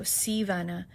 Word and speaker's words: Sea Vanna: So, Sea, S E A, like the ocean, and then Vana, like kind of like Anna, but with a with a V. So, SeaVana.